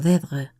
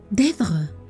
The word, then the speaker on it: Deirdre: Deirdre. Le dio un vuelco el corazón y se quedó inmóvil. Solo una persona había pronunciado su nombre de aquel modo, con un ligero acento en la primera sílaba que la convertía en una caricia.